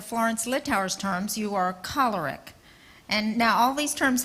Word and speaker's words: choleric: Can we learn to pronounce that right? Because people say caloric. Yes, Florence Littauer would not certify us to work for her or with her until we said choleric instead of choleric.